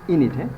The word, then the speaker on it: Aeneid: And his Aeneid, pronunciation is Aeneid.